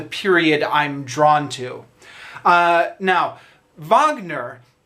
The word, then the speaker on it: Wagner: Egon Voss so right if you don't know vogner the the name is spelled w AG in ER like Wagner but I believe it's spelled sorry i believe it's pronounced vogner he's a classic opera composer probably most famous